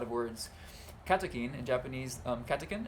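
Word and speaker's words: カテキン: Katekin in Japanese, katekin, how do you say it in English? In Japanese it's katekin, so I'm just going to say like the Japanese version, katekin.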